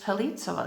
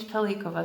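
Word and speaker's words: Pellicova: And she said, because it's spelled with a C. So it should be pronounced Pelitsova Street. And like, here's what I know. It's named Pelikova Street after Silvio Pellico, who was imprisoned at Spielberg. And so we would pronounce it with a hard C, because it's the same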